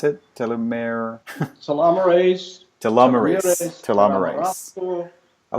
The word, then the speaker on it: telomerase: Or what I'm saying is, besides telomeres, or what was the other way to pronounce it? Telomerase.